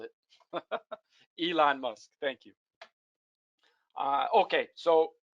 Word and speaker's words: Elon Musk: musk sorry yeah i'm mispronouncing i i was pronouncing how the person spelled it elon musk thank you uh okay so that's what happens